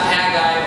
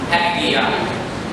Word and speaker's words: Haggai: It's not 2. It's not Haggai or Haggai. It's actually pronounced Haggai.